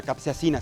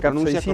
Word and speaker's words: capsaicina: Además, creo que hay una razón muy importante, la capsaicina, se pronuncia capsaicina. correctamente. Capsaicina. Tiene un factor importante digamos, efecto positivo en el organismo, Es un antiinflamatorio.